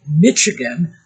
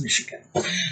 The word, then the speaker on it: Michigan: blame them it looks like it should be pronounced Michigan but it's not it's Michigan so Michigan 1291 she uh let me know